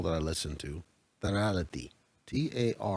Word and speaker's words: Tarality: The name of this token is called, I'm going to pronounce it the way they did on the call that I listened to, Tarality. Tarality. Tarality.